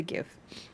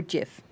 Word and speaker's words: GIF: VTuber, is essentially just a GIF or GIF, depending on how you pronounce the G.